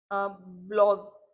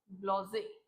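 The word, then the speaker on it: Blasé: ब्लॉजे। सो इट is like this, जो stress है वो यहाँ पे, इट्स ब्लॉजे नॉट ब्लेज।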